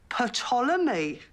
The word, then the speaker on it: Ptolemy: love this it's called ptolemy i don't think so says it right there it's as plain as the lines on your face the p is silent as in psychopath sharon why is it